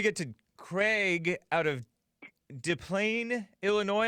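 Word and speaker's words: Des Plaines: Let me get to Craig out of DePlaine, Illinois. Am I pronouncing that right? DePlaine? Yes, you are, sir.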